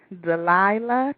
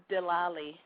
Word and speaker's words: Delali: everybody's allow one okay give me the correct pronunciation it's delali the and how do